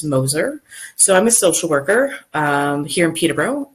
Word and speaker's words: Moeser: my name is last name is pronounced Moser so I'm a social